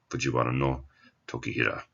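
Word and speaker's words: 藤原時平: Again, the no is silent, and these old names, Fujiwara no, Tokihira.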